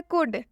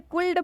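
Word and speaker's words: could: कुड में L silent होगा। देख सकते हैं यहाँ पर हिंदी में भी लिखा हुआ है कुड। अगर आप एल को पढ़ते हैं कुल्ड पढ़ते हैं तो ये बिल्कुल गलत उच्चारण हो जाएगा। इसका सही उच्चारण कुड होगा।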